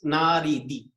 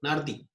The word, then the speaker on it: Nardi: Dario Nardi. Yes. Naridi. Yeah, no, Nardi. Yes.